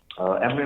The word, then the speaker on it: Emory: Emory rhymes with memory, yay.